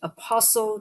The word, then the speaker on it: apostle: Apostle, you don't say the T in the middle.